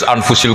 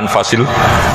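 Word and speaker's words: أنفس: anut bacaan saya saja di sini ditulis anfusil kutub kalau saya baca anfasil kutub karena maknanya kitab ter baik Kalau kitab terbaik bacanya bukan anfus tapi apa anfas ya nanti kamu debat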